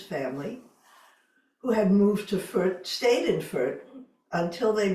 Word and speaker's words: Fürth: from, in 1499, many of them moved to Fürth, F-U with an umlaut, R-T, Fürth. German is tricky to pronounce, which is only 4.5 miles away.